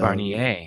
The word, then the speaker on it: Barnier: By the way, Navarre confirmed it's pronounced Navarre Barnier. So Barnier.